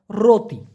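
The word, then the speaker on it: roti: হয় পলিতা পলিতা next রুটিকে Malaysian ভাষায় বলা হয় রতি আমরা বলি রুটি ওরা বলে রতি শর্ত হ্যাঁ আমি আপনার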